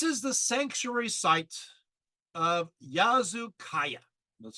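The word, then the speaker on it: Yazılıkaya: we go this is the sanctuary site of yazu Kaaya that's spelled y a z i l i k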